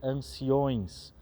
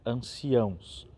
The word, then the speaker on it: anciãos: com algumas expressões anciãos por vezes já ouvi alguém dizer Anciões é mas Anciões é uma forma de pronunciar que não existe então cuidado para a gente falar corretamente anciãos e depois algumas expressões